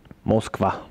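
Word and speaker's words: Москва: der zu eurem viertelfinalspielort auf Russisch ausgesprochen moskv moskv der Punkt zählt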